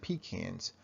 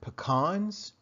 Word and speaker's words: pecans: Now, remember, Coach D is from South Florida, so here we pronounce it pecans. But perhaps in your part of the country or in your part of the world, you may pronounce it pecans. So whether it's pecans or pecans, it happens to be